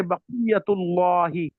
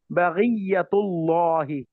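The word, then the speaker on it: بقية الله: So if they want to Yes. say baqiyatullahi, baqiyatullahi, they would say baghiyatullahi.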